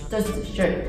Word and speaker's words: shirt: So you have to be careful with your pronunciation. So singular, or just 단수, is just 셔츠. Just shirt.